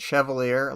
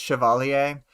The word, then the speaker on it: Chevalier: Wildbow apparently fails the English pronunciations of these words, like Chevalier and Marquis. There are French pronunciations of them, like Chevalier and Marquis, but you know, I'm fine with English pronunciations.